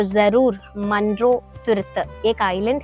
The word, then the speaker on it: Munroe Thuruthu: रहे हो तो जरूर मंड्रो तुरुत एक आइलैंड है एक्चुअली, उसको मलयालम में ऐसे ही प्रोनाउंस करते हैं मंड्रो तुरुत.